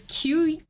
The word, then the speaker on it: Qigong: I have had patrons correct me on how to pronounce this. It's Qigong.